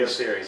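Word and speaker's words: Albio Sires: the opportunity to interview Congressman Albio, if I'm pronouncing his first name correctly. Albio Series, yeah.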